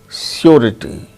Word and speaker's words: surety: But r sound is pronounced when it is followed by a vowel sound, as in the case of surety, surety, surety, R-I-T-Y, riti.